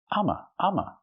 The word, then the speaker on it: I'm: It's true. I'm is pronounced ama.